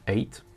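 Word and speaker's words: eight: Le 8, le GH ne se prononce pas, ça fait juste 8.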